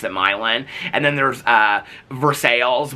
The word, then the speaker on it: Milan: or four cities there's like milin which is m i l an which all us were pronounced Milan but they pronounced it milin and then there's uh verses which we would